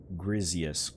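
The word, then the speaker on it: Griseous: Grizzius core, I guess, like grizzly.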